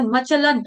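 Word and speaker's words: अचलं: गम चिंत मचलन ध्रुवमट मचलम नहीं है मचलन ल के ऊपर जो अनुस्वार है उसका उच्चारण अनुनासिक न हलंत न की तरह क्योंकि आगे ध शब्द आ रहा है त थ ध न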